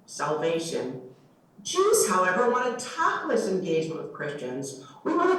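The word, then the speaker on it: תכלית: There's an interesting word that went from biblical Hebrew to Yiddish and back into contemporary Hebrew slang again, although maintaining its Yiddish pronunciation. The word is tachlis.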